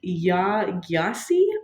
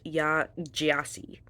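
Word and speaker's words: Yaa Gyasi: read is homegoing by yah gasi I might butchered that so correct me if I'm wrong editing megie it is pronounced yah jasi we do our research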